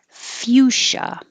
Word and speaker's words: fuchsia: going john george giselle fuchsia this cia is pronounced sha and that came up